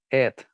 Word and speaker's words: it: eat and this one it there you go so guys remember eat it so this sound is longer eat it okay so